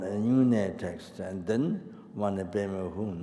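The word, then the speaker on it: Om mani padme hum: unit text, and then Omani Pema Hum, not she, Omani Pema Hum, 6 syllables. You get Dujuba, 6 syllables, not Omani Pema Hum she, no.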